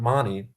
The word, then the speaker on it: Mahoney: why are you money and not Mahoney well uh money is how it's pronounced in Ireland and it's an Irish